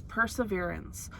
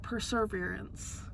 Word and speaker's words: perseverance: And then the last one, blue, is perseverance, which I recently discovered is not perseverance. I've said it wrong my entire life. Well, I have the pronunciation right there. Perseverance. There's not an R there.